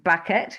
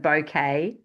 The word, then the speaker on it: Bucket: Um, hyence bucket, she pronounces it bouquet works hard to impress all others.